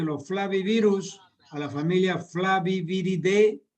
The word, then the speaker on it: Flaviviridae: Un arbovirus que pertenece al género de los flavivirus, a la familia Flaviviridae. Viridae se escribe, la terminación AE en latín se pronuncia como E.